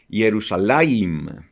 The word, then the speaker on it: Jerusalem: Aunque pues los judíos le llaman Jerusalim, pero cuando nosotros revisamos el texto hebreo correctamente, nos damos cuenta que la pronunciación es Jerusalem, ciudad de Shalom.